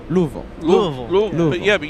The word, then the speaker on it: Louisville: it's right in the Louisville Louisville Louisville yeah but you say it like you have a mouthful of marbles Lou maybe that's the